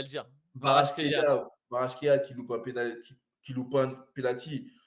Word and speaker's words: Kvaratskhelia: Xavarashvela, je ne sais plus comment prononcer Kvaratskhelia, son c'est nom. bon, j'ai appris à le dire. Kvaratskhelia.